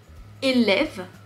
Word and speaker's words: élève: Dans le mot élève, tu vois les deux accents. E, lève. C'est pas tout à fait le même son.